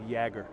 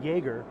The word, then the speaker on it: Jagger: stuff was coming from we have some question on how to pronounce yagger or Jagger we specifically asked him before the game how he pronounces his last name and he said Jagger so if you pronounce it joerger that's not how he says it so back to your